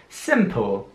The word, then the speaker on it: simple: Simple. Wieder ist es wichtig, das I auch wirklich wie ein I auszusprechen, also nicht simple oder so, sondern simple.